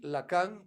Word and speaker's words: Lacan: Le pronuncio así, Lacan, para que ustedes puedan irlo a ver, se escribe tal cual, Lacan.